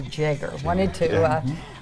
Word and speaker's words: Jaeger: I think I said her name wrong. The last name is actually Jaeger.